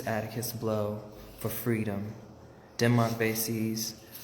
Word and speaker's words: Vesey: That's Denmark Vesey. I don't know why I pronounced that wrong.